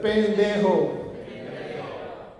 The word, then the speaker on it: pendejo: That's a pen. So go ahead and say pen. Pen. Okay. The middle one right here, just pronounce it de. De. And the last one is your mom. It's a ho. Ho. Go ahead and say it all together.